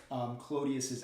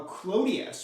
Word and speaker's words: Clodius: kind of cockney pronunciation so roman patrician would say something like claudius but a sort of roman would pronounce that a u would just sort of turn it into an o sound clonius um so he's actually